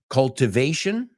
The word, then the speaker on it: cultivation: that controls the activities, cultivation, era la segunda palabra, cultivar, no cultivación, cultivation, we say, no es cultivation, vamos a pronunciarlo, por favor, cultivation, culture, right?